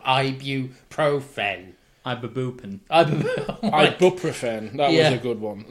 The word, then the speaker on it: ibuprofen: comes to mispronunciation annoyances there's nothing worse than people who say and say I proven or I bureau friend instead of ibuprofen I'm Babu and ibuprofen